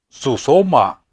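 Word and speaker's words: σύσσωμα: Él compuso esta palabra griega que se pronuncia susoma.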